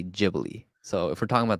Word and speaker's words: Ghibli: And in Italian it's pronounced Gibli. Okay. But in Japanese they say Jibli. So if we're talking about the studio you should say Jibli.